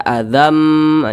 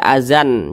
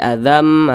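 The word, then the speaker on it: azzam: masuk ke huruf mim dibaca Azam Jangan dibaca azan jangan tapi Azam kemudian didengungkan Azam Mir Rasih kemudian di sini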